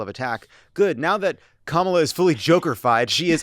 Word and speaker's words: Kamala: I guess that's why they have to mispronounce it. Yeah. Like because the actual name is. It's a great name. Kamala.